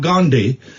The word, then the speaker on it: Gandhi: I'm holding back on what I'm saying about Gandhi because Oh no, don't pull a face because I pronounced it properly.